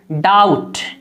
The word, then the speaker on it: doubt: जैसे मिसाल देखिए डाउट, DOUBT, बी यहाँ पर साइलेंट है, बी को नहीं पढ़ा जाता है, तो असल हमें देखना है OU।